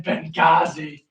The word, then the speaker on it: Benghazi: It's the fucking H is silent in Benghazi.